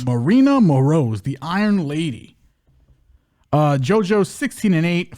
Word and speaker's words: Maryna Moroz: Maryna Moroz. Maryna Moroz, the Iron Lady.